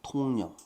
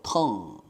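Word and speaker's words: tongue: 알려진 사실 그래서 거짓 통령 글씨 알아 먹겠나 쟤니 어 자 그래서 이제 본문 들어가 봅니다 통 통 아니고 텅 혀라고 읽어야 되죠 혀는 워즈 맵트 맵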